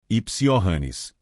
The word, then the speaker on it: Johannes: Perdoe-me, Hannes, o mordomo pronunciou o nome com J português, de forma incorreta. Kepler suspirou. Pense nisso como um Y. Johannes. Johannes.